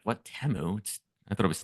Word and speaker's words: Temu: One, I realized that I've been saying it wrong the whole time. That's number one. Because they said Temu. I'm like, what, Temu? I thought it was Temu the whole time.